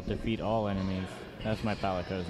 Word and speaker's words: Palico: So hey, I mispronounced that so many friggin' times, and I hate It's a myself for it. Palico. It's a Palico, and you can get your